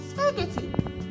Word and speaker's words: spaghetti: Letter H is silent in the word spaghetti. Spaghetti.